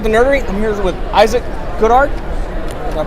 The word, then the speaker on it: Issac Goodhart: I'm here with Issac Goodhart. Did I pronounce that right?